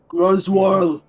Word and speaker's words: Groswaro: Groswaro. No, more. You gotta sort of like a bear grunting. There you go. There you go. It's all in the pronunciation, so you have to roll the R's.